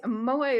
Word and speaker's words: moai: and some with a zoom option a moi moai is a Japanese word for an activity shared